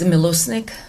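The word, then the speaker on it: Mileusnic: My first name is spelled D A R I N K A and my last name is Milusnik. Milusnik is spelled M I L E U S N I C.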